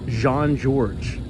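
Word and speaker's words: Jean-Georges: Michelin star restaurant I I believe it's pronounced Jean George I believe you can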